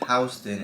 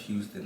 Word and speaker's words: Houston: yorkers pronounce houston houston most transplants to new york quickly learned that the lower manhattan street is pronounced houston instead of houston like the city oh i guess this